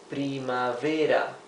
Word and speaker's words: primavera: And our last season is primavera, 4 syllables.